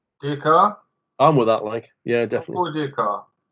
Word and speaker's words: Descartes: Well, there's a man, 17th century in France, called Descartes. If I pronounce that correctly, we'll talk about the pronunciation.